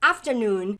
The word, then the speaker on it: afternoon: Atenção aqui pra pronúncia de afternoon, o noon que é a sílaba mais forte aqui da palavra, right? Então, afternoon, afternoon.